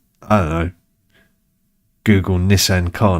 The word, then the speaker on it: Nissan: And I'm aware that we say Nissan stupidly here because no Japanese person ever would say Nissan. They would say it a bit more like Americans say, which is the Nissan thing.